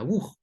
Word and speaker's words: Vuh: Conclusión, se escribe bug, pero se pronuncia bug.